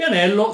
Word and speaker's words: anello: Adesso non importa, la L non si scrive doppia, si scrive con due punti che stanno a indicare che è molto più lunga, la pronuncia anello, Cioè